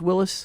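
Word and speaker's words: Willys: 30 seconds you said Willies but didn't you correct me and say it's Willis it's well it should be pronounced Willis nobody pronounces it that way but the the ones in the know Willis is the correct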